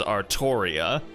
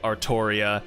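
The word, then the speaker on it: Artoria: But the way they pronounce it in Japanese, because they can't pronounce L's, is it they pronounce as Arttoria, which doesn't really make that much sense because Arttoria sounds like it uh lines up better with Arthur, but yeah, from from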